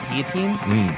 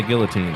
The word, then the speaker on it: guillotine: Guillotine? Some people say guillotine. That would be wrong.